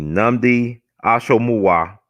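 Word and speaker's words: Nnamdi Asomugha: I remember I pronounced his name right. That's actually Kerry Washington's husband, brother named Namdi. Let's see. Namdi Ashomuwa.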